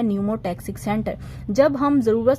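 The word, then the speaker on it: pneumotaxic: अपर वाला इस called न्यूमोटैक्सिक, P silent होता है, एन से हम प्रोनाउंस करते हैं, और जो लोअर पोर्शन होता है दैट इज कॉल्ड एप्निवेस्टिक सेंटर।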